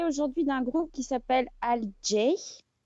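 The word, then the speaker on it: alt-J: Oui, alors, je vais vous parler aujourd'hui d'un groupe qui s'appelle Al J. On prononce à la britannique, n'est-ce pas?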